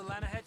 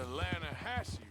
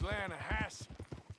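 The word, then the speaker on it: Lannahechee: The other day I rode down to the Lanahei River. I caught some beautiful steelhead drought. You mean the Lahassy River?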